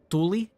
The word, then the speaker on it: tuli: Tuli is fire. Tuli is wind with two U's.